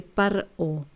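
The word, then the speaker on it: פרעה: O sea, ¿cómo se dice en hebreo faraón? Se dice paró.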